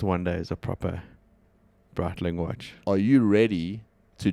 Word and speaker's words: Breitling: How do you pronounce it? Breitling.